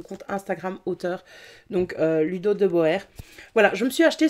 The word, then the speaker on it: de Boer: son ex de Ludo de Boer, ou de Bourg comme j'ai envie de le dire à la belge, mais je pense que c'est qui s'attendait à ce qu'on prononce de Boer.